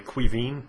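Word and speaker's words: Caoimhín: you know That's My Name by the way Quine is and Irish which is really awkward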